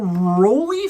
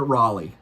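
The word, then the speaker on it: Rollie: Then we slide on into Satderg and we're going to have a little rolly fingers. Is that really how you pronounce that? Or is it Raleigh? I like Roly.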